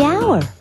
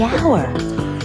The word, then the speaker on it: hour: owner the animal the hour way H is not a vowel sound it's a consonant sound but it's not the first sound the H is silent the hour but what about the